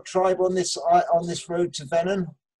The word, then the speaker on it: Venon: Venon, V-E-N-O-N. Venon. Wait, Tom Hardy. That's gonna be my man crush.